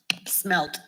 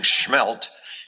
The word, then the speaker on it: smelt: Smelt. See, I just worried. I'm not a native and I was saying schmelt and you're saying smelt.